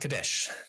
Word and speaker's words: Kadesh: All right, let's talk about Kadesh. These are the hieroglyphs for it with the determinative for the hill countries or a foreign land. So kadesh is how we would generally pronounce it in Egyptological pronunciation for the the Hetites